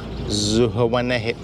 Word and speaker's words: Zihuatanejo: This trip is just as far as Ixtapa, Zihuatanejo. How do you say it? Zihuatanejo.